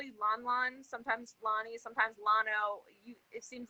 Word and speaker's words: Lonno: you know um i my preference is lano just because um the way that my name is spelled is very misconceived misunderstood for um lonnie and uh it's actually